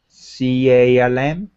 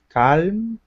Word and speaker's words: calm: c a l m calm c a l m calm calm yeah a calm guy you don't pronounce the L okay or hey L is completely silent in that word calm okay calm don't don't